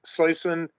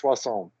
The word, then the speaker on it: Soisson: It's in English pronounced Soisson. If you go with the French, it's Soisson.